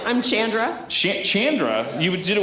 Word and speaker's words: Chandra: you breed that here's what I say it's Chandra not Shandra it's Chandra not Shandra you're going to pronounce it the way that my mama told